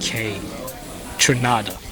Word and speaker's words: Kaytranada: different ways K trinada Kai trinada let's get an official pronunciation from the man the proper way to say it k trinada k from Canada yeah from Canada so